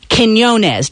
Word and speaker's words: Quinones: I am talking about Gainesville track and field star, Gainesville football star, Quinones.